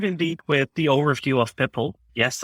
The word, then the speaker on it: PIPL: So, let's start indeed with the overview of Pipple. Yes, I am consistently calling it pipple to facilitate the pronunciation.